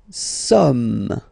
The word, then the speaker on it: sommes: Nous sommes. Okay, nous sommes. Okay, so you don't pronounce the final S here. It doesn't exist.